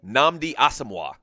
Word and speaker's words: Nnamdi Asomugha: football player so I'm you say it again Nnamdi Asomugha nnamdi awesome one yeah but you know what